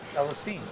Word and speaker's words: Celestine: So we have some names like Angie Champagne, Celestine, which by the way is how you say her name. Celestine.